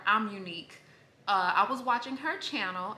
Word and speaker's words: Amonique: So guys, I was watching Kyra Amonique, or I think she pronounces it Kyra, I'm Unique.